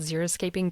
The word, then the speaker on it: Xeriscaping: We are talking about Xeriscaping, which sounds like it's spelled with an X, so it's Xeri scaping.